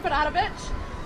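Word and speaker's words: Berarovic: I am Padavich. That is spelled C A T H R Y N. And I'm Serbian, so my last name sounds like a sneeze, but it's spelled B E R A R O V I C.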